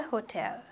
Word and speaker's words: hotel: We don't say ho, right? We say oh, ho, hotel.